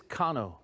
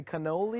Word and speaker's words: Cano: It is Cano. Cano. People say cannoli because they don't know whether I'm Italian or what, but I'm Latino, man. are you? Chicano, Mexicano, Cano. Cano.